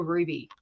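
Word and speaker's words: RWBY: a battle show called a ruby no sorry Ruby spelled with the w instead of you r w b y EP and it's this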